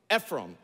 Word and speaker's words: Ephraim: them manessa Manasseh or Ephraim or some say Ephraim Ephraim Manasseh and Ephraim in the proper pronunciation of those words and their names declare